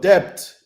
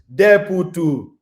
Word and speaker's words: debt: Debt. If you don't know how to pronounce, if I'm pronouncing it the way you